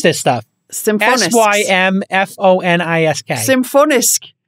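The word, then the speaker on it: Symfonisk: that has a more risk how do you pronounce this stuff simple s-y-m-f-o-n-i-s-k symphonist symphonist the symbol is the sh stop it's the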